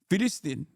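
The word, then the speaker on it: فلسطين: Free Fallstine is like fistin is how you say it is actually how you say it in in like he's he's saying it in the in the correct way in the Arabic pronunciation. He's saying it in the OG way.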